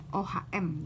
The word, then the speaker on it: Ohm: Di hukum Ohm ini tentu penemunya namanya Ohm, OHM dibacanya Ohm ya.